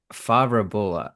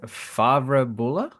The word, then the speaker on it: Favre-Bulle: Favre-Bulle? It's gonna be fine. Yeah, it's fine. You can say Favre-Bulle or Favre-Bulle.